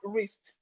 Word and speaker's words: wrist: We have wrist. Wrist. The W in wrist is silent.